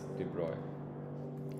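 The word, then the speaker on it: de Broglie: he deserved within his life his name was Deborah his name is written although de brogly but he is because he's a french guy basically his name is pronounced as Deborah no so he gave this idea so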